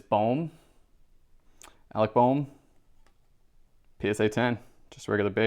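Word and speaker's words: Bohm: awesome great start next up i even practice his name i know everybody says bomb it's not bomb i believe it's bomb alec bowm psa 10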